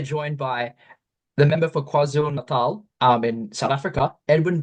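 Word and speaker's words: KwaZulu-Natal: me Francis and well done with the the pronunciation quaz Nal not easy for people from abroad to be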